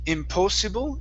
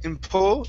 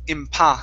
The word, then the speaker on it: impossible: the word impossible so instead of impossible impo it's impa impossible impossible very nice and last one